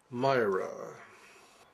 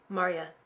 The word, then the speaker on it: Marya: Myra. Marya. Pardon? Marya. My name is Marya. M-A-R-Y-A. Oh, Mariah. Marya. Marya. Two syllables, Marya. Not Maria, not Myra, not Mara, not Mara. Marya.